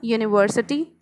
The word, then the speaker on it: university: with a consonant sound now here it is written a university a unit why it is your u a e i o u it is supposed to be a vowel and in front of a vowel we have learned always that n is used then why a is used here because definitely